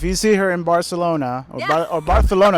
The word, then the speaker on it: Barcelona: go so if you see her in Barcelona barthelona it's actually pronouncing it correctly go go say hi or